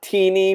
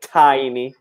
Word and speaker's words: tiny: very small tiny okay so not teeny but tiny tiny okay cool thank you